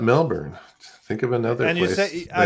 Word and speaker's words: Melbourne: And actually not Melbourne. Think of another and place. And you say, I think place. You pronounce it Melbourne. You don't Melbourne, do the Melbourne. Not the American.